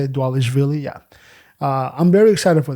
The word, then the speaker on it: Dvalishvili: Sugar Sean O'Malley versus Merab Dvalishvili, right? That's how you say it, Dvalishvili, yeah.